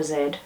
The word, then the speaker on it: Z: Thomas and a z or Zed as I would pronounce it a novel of Zelda